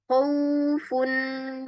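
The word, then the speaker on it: خوف: Khaufun bukan khaufun. Khaufun. Khaufun. Kha. Nah, ini sering terjadi kesalahan karena dia mudah diucapkan kemudian kedengarannya tuh kayak sama gitu ya dengan huruf yang enggak pakai yang diucapkannya enggak pakai memonyongkan kedua bibir padahal salah padahal tidak sempurna.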